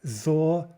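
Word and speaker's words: золото: First syllable is stressed, but the second two are not. Zolota.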